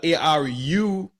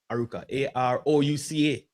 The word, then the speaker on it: Arouca: But you see how it's written here is Aruca. But when we rewrite it for ours, it does spell that way. Wow. So it's the old English or the old Spanish versus the modern evolved way. Yeah. So it evolved through time to adapt to us people living there now. Like, it don't spell that way at all. It's spelled Arouca, Arouca.